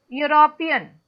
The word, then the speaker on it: European: Because when you pronounce, it starts with Y sound. Yes, Spelling ma'am. is starting with E, which is vowel. But when you pronounce it, it starts with Y sound. European.